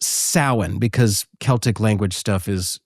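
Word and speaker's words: Samhain: s a m h a i n s a m h a i n but it is pronounced sin because celtic language stuff is very strange.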